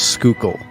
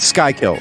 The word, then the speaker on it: Schuylkill: of the river is Schuylkill not Sky kill were you saying it